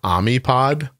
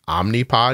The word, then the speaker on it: Omnipod: know she told me she thought for a long time that it was amip pod one day she heard me say it like omnipod and she thought I was mispronouncing the word where I asked her